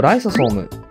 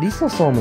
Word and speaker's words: リソソーム: 選択肢 4 のライソソーム、これはリソソームのことです。